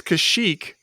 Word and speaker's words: Kashyyyk: is that how it wait how is it pronounced well it's kashyyyk for some reason the one time you hear it in this the guy says kazook kazook are you serious yeah yeah sorry no